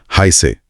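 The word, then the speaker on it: heiße: इश और हाय में जो एस अक्षर है उसे डबल एस की तरह बोला जाता है। तो ये बनेगा हाय से। हाय से। तो पूरा वाक्य होगा इश हाय से।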